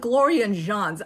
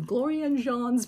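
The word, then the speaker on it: Gloria Jean's: Jan glor and jeans I call it glor and Jean's I don't know why I feel the need to Mis pronunciate or give somebody a fancy pronunciation of their name I have I've been doing that a lot lately glor and John's but it's glor and jeans okay it's right here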